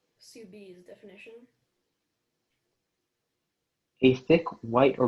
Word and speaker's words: soubise: Your word is soubise. Soubise definition.